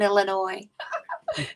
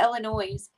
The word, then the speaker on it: Illinois: down Illinois too it's there is no noise in Illinois everybody always calls it Illinois yeah I know when you live in Illinois you'd call it Illinois